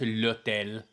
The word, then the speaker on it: l'hôtel: It's pronounced l'hôtel. There's no H in French.